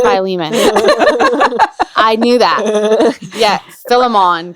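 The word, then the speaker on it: Philemon: come join us while we study filimon that's not how you say it it's by Leman I knew that yes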